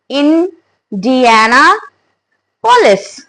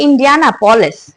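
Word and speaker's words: Indianapolis: great so next is इंडियाना पोलिस पीओ एल आई एस नाउ हाउ डू वी से it guys it's नॉट इंडियाना पोलिस एस इन it looks like इंडियानापोलिस बट वन we spell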